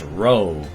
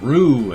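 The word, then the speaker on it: Roe: people do not know how to pronounce the r 0 e sound it's ro I get Rue and Roy and in a sudden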